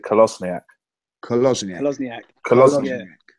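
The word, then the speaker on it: Kolašinac: video on youtube of him pronouncing his name and he pronounces it callous niak closing act colossal yank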